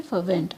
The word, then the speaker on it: fervent: Next word is FERVENT, फर्वेंट। आर is silent here.